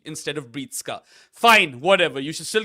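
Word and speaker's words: Breetzke: So it's one thing to mispronounce a name. That can happen to anyone, right? Like some people say Matthew Bretsky instead of Breetska.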